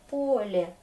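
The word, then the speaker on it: поле: Ou Pole, c'est le chant. L'accent est là, c'est un vrai O. Pole, Pole. Très bien.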